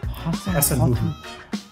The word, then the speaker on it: Hasenhüttl: And let's see if Ralph, how do you pronounce his last name? Hasenhüttl.